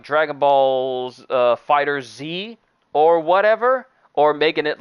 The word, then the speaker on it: FighterZ: a bleach muscle game is it called fighters or fighter z oh dragon ball fighters dragon ball fighterz i've been mispronouncing it this entire time my bad but i